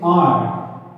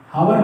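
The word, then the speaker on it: hour: उसी तरीके से ये भी क्या है, ये भी साइलेंट है, इसको हम पढ़ेंगे आर, हावर नहीं आर, तो यहाँ पर भी क्या होगा, एन आर।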